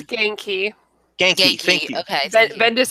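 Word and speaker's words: Ganke: It's like gain, like to gain something, and key, like a key. Gain key.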